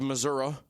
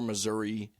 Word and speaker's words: Missouri: In the great state of Missouri, or Missouri, depending on what part of the state you're from.